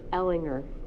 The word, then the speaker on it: Ellinger: So any questions you might have, I would reach out to the mayor, or I understand I've been pronouncing your last name wrong all this time. It should be Ellinger.